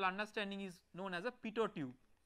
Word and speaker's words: pitot: So the device which is based on this conceptual understanding is known as a pitot tube. So the last T is silent, so it is pronounced as pitot tube.